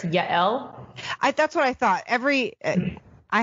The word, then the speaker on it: Yael: How do you pronounce it? Sure, it's Yael.